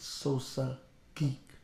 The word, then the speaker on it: Sosa Geek: the table oh my man how much i pronounce this right sosa geek correct yeah yeah you did it right brooklyn